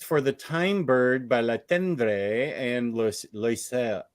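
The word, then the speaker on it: Le Tendre: the time Bird by La tendre and oh he's French so it's like low you don't pronounce half the letters in there and Peter Pan By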